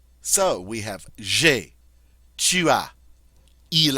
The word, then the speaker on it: tu as: The second person singular form, or the you singular form, tu as. Notice as, but we don't pronounce the S.